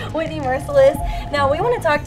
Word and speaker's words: Mercilus: joined with someone's name I know how to pronounce correctly, Whitney Mercilus.